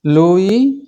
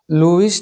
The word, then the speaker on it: Louis: আজের ভিডিওত আমি তোমার ইংরেজি পাঠপতিনর লেসন ফাইভ লুই পাস্টার লুইস নয় এসর উচ্চারণ নয় লুই পাস্টার পার্ট ওয়ান ভিডিও বিজ্ঞানী